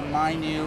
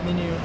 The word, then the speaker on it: MiNew: this is uh the my new empador I see my new but if everything's menu or something menu okay I like to get the pronunciation right here menu you're a good reader